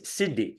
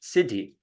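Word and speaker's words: siddhi: the U the that the uh Sanskrit word is Sidi Sidi which is spelled s i d d h I this is spelled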